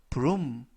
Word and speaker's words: broom: 이때 알파벳 OO 두 개가 이중 모음으로써 우 발음이 납니다. 그래서 broom 이라고 발음하시면 되겠고요.